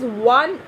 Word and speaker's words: one: But here we will use a because wa, this due to this pronunciation wa, and this is one. It generally pronounced like w, wa, and w is a consonant.